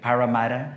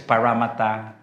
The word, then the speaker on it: Parramatta: And to the Diocese of I can't even pronounce my fellow the Filipino enemy, Parramatta. Is that correct? Cuz I said I thought it's Parramatta. Parramatta.